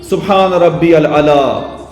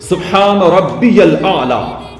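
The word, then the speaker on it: سبحان ربي الأعلى: और दूसरा तरीका सुभान रब्बी अल अला।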